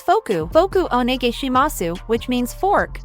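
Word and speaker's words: フォーク: In English it's fork, and in Japanese it's foku.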